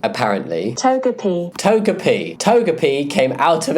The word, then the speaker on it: Togepi: Togepi, apparently. Togepi.